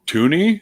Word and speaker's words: Toonie: And somebody said, I don't know, Toonie? because it rhymes with loony, because there's nothing on there other than, like, I think there's a couple of bears, like polar bears.